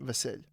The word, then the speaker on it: Vasyl: It's like it's Basil, but in Ukrainian. Vasil.